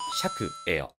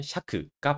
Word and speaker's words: 借: 받침에 기억이 없는데도 음독이 샤크예요. 이건 이 한자의 발음이 적과 차 두 개였는데 한국에서는 차로 정착이 되고 일본에서는 적에 대응하는 샤크가 발음으로 정착이 되어서 그렇습니다.